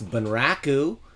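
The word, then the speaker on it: 文楽: in particular deals with I believe it's pronounced van Rock ooh which is sort of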